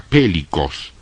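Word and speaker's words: πηλίκος: La palabra grande aquí es la palabra pélicos. Se escribe P de pato, E-L-I-K de kilo, O-S.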